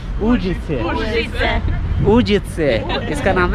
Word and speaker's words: Užice: How do you pronounce this city? Is it Uzice? Užice. Užice. Užice. Užice. इसका नाम है Užice. हम बोलते थे Uzice. No. Už. Užice.